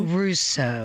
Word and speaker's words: Russo: so much people saying rosso simply said rousseau russo russo russo russo rousseau good to have you